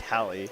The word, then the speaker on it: Hallie: Excuse me, Hallie, for pronouncing your name Holly for so many streams. I did get corrected by Tyler earlier. I've been saying Holly this whole time, but it is in fact Hallie, so I do apologize.